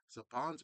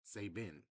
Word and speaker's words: Saban: How in the world has it took 30 plus years to find out saying we were saying Sapans Entertainment wrong. It was Saban entertainment. Sabin entertainment or Saban. No, it's Sabin Entertainment.